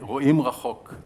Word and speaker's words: רואים רחוק: We say רואים רחוק. That's how we pronounce it in my Hebrew language.